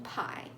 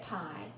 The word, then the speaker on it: pie: Let's move on to IE, which says I in pie. IE is typically at the end of words. Let's take a look at pie. Pie. And then the word tie. Tie. We see that I and E are side by side. E is silent, like magic E, silent E, and is right by I.